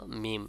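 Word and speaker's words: ميم: সে সম্পর্কে আমি বলি দুই ঠোঁটের শুকনা অংশ পরস্পর মিলিত এবং নাকের বাঁশি থেকে গুণনা যোগ করে উচ্চারিত হবে ভালো করে বোঝেন দুই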